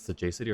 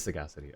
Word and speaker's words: sagacity: So I don't know if it's sajji or sagacity. It is sagacity.